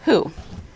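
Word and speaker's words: הוא: try that for confusion the bottom word means he and it's pronounced who but the main thing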